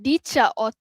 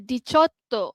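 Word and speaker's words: diciotto: Okey dicha 18 dia bukan dicha tapi dia dicoto.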